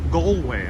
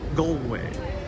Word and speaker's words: Galway: of the rugby arena galway is pronounced goldway okay so a is o in ireland goldway thank you so much